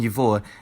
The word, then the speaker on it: его: suffix, like the pronoun yivo, is pronounced with v even though it's spelled with ge.